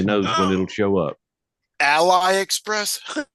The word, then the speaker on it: AliExpress: when it'll show up Ally Express yes that's a right way to say it how do you say it Ali Ali it's the Chinese